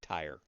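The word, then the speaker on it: Tyre: He was the king of Ty. That's how I've heard it pronounced. T Y R E. Ty.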